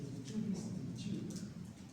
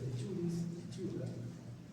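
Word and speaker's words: Trichuris trichiura: Es el Trichuris trichura. Entonces, el Trichuris trichura también se llama trichocéfalos, tricocéfalos, trichura. Cuando dice tricho, es trico, se pronuncia trico, tricocéfalos.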